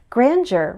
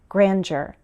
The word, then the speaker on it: grandeur: Grandeur refers to something impressive like beauty or power. I use a J sound, grandeur. But I've heard some Americans use a D sound, grandeur.